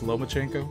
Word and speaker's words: Lomachenko: what's his name lomachenko that's how you pronounce the name it's not lman it's lomachenko he did like years